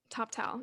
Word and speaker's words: Toptal: But you managed when you were at TopTal, is that how you pronounce it? TopTal, yeah.